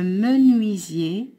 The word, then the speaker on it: menuisier: Le menuisier, UI se prononce oui, S entre deux voyelles se prononce Z, IER se prononce Y.